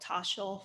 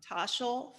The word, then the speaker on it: Toshl: Personally, I use an app called Tosh Finance. Ooh, spell it. Uh, Spell it. TOSHL. Okay. Toshal Finance.